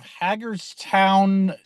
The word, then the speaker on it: Hagerstown: yeah, I'm in my car again because I'm outside of Hagerstown, if that's how you say it, Maryland. Hagerstown. Oh, Hagerstown. It is Hagerstown. Okay, thank you. Yep. I stand corrected.